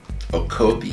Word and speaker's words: Okobi: It's spelled T-E-L-E-M as in Mary, A. Okobi is O-K-O-B-I, Okobi.